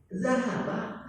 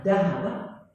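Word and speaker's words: ذهب: Zahaba artinya pergi. Kalau saya baca dahaba, ayat apa nih? Perhiasan emas, perak. Jadi yang tadi itu zahaba artinya pergi. Kalau ibu baca dahaba, Mas.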